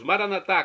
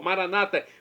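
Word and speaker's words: Maranatha: E agora eu clamo do aramaico, dialeto de Jesus, Maranatá, como dizemos nós católicos, ou Maranata, como dizem nossos irmãos separados, os evangélicos ou protestantes, não importa a pronúncia, o significado é o mesmo.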